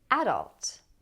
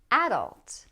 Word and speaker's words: adult: But some people put stress on the first syllable and they say adult. Adult with the a sound as in cat. Adult. I say adult, and adult is the more common pronunciation.